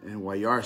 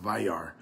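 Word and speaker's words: וַיַּרְא: It's about the word Wayar, and Wayar spent it's pronounced Vayar, but there's a difference.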